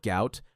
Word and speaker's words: Gout: His family name was originally transliterated as Gua or Guat, but now Gout, pronounced to rhyme with pout, is the name the world knows, and it's becoming one that track and field will never forget.